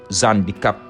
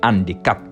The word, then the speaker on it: handicaps: mais on dit les handicaps on dit pas les haricots mais on dit les haricots on dit là on dit pas on dit pas l'Hérault on dit le héros c'était tout pour aujourd'hui